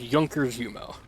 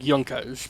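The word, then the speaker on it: Junkers Jumo: as drunker's jumail but you pronounce it as Yonkers yumo more like yonkas but you know I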